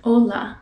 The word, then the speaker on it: hola: to go in spanish keep the vowels pretty short hola that is how you